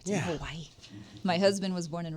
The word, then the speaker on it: Hawaii: yes well hope they're having a good time out there yeah how could you not in Hawaii my husband was born and raised in Hawaii I think it's actually officially called Havi so he'll probably chastise